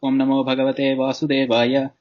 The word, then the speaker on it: Om Namo Bhagavate Vasudevaya: Om Namo Bhagavate Vasudevaya Om. And you're actually doing it right. Just excellent. There's no need for the second Om at the end.